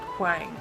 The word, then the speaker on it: Huang: You said Wang the first time. No, I said Huang. I'll go back and it says Huang. Okay? Huang. Stop saying it like that. That's how you say it, it's Huang. Stop!